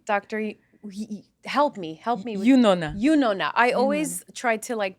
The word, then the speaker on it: Yunona: Yunona. I always try to pronounce it.